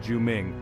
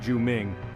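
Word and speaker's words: 救命: crucial in emergencies in Chinese help is shouted juming pronounced juming it's a powerful phrase that can grab attention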